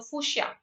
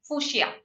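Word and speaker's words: fuchsia: Fushia. That's how we pronounce it. And the spelling is this. The ch comes first. The sia comes later. Sia comes later. Okay. Foo comes first. Fushia.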